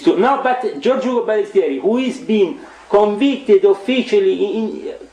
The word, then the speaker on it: Balestrieri: Giorgio Ugo Balestrieri.